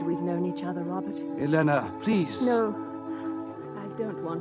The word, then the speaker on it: Elena: Elena rhymes with Vienna.